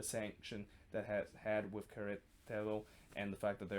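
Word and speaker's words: Querétaro: between Queretaro and Atlas, or actually it's Queretaro versus Atlas. I want to pronounce it correctly there.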